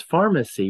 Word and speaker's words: pharmacy: uh it's interesting because Pharmacy we've kept the pH in Pharmacy any pH in English is pronounced with an F so that's a pharmacy